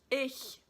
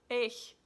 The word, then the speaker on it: ich: or well I guess typically Americans say ich cuz you can't make this sound it's easy it's just like like a cat hissing ich ich notic notic so I